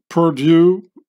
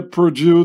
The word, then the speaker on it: Purdue: Anybody who speaks French, when they hear Purdue, they think of an English-speaking person that pronounces the French word for lost.